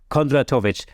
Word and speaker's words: Kondratovic: business Mastermind that is and other than slavomir Kondra tovich I hope I've pronounced your name right you did great thank